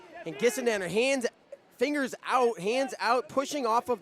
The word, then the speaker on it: Gissendanner: Couldn't quite wrap up the right arm of Gissendanner. Hard G there, Bader.